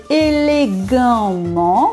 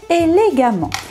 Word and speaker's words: élégamment: On devrait prononcer élégamment, mais c'est difficile à dire, hein, essayez chez vous. Donc par facilité, nous prononçons élégamment.